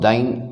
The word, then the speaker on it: dying: When one pronounces dying, it rhymes with the word lion.